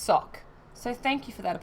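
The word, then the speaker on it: Sawk: answer oh apparently salk is supposed to be pronounced sock so thank you for that poco trout um sock suck you're right sark with an american accent what a great um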